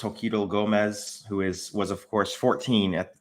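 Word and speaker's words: Xochitl Gomez: And of course, America Chavez is played by I believe it's pronounced Joquito Gomez, who was of course 14 when she filmed Doctor Strange in the Multiverse of Madness and is currently 16.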